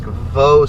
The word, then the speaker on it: Vaux: And I'll take a corner here and it'll put me on, looks like Vaux Street, V-A-U-X. That's just a wild guess on how to pronounce it. Like faux, but with a V, Vaux.